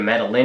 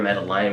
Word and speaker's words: Madeline: maddie for short um you could pronounce either madeleine or madeline we like madeleine we probably wouldn't have